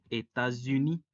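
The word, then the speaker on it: États-Unis: a la uv y la s al ligarse con la siguiente palabra se pronuncia como una zeta es por eso que eeuu se dice estas gini ahora el artículo que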